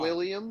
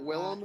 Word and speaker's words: Willem: William? I was wrong. Isn't it Willem? Half of my family Yes.